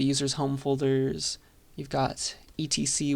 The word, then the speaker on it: etc: home folders you've got Etc which people tend to pronounce Etsy that holds some some